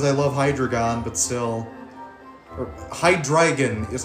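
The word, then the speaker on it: Hydreigon: Uh, I always felt hydrogon should have a uh Hydragon should have a a mega. Like I'm not I'm I'm kind of biased because I love hydrogon but still Hydragon is how you say his name.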